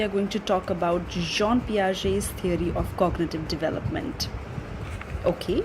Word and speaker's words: Jean Piaget: that they call or they pronounce his name as Gan Paget okay so it's not that it's Jean P I've written it also